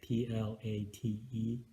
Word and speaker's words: plait: So I know plate like, dinner plate, Plate, but this is spelled Plait.